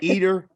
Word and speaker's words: Eder: it up header enter so yeah i say eater i say linda i mean but this is